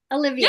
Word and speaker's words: Alyvia: Olivia.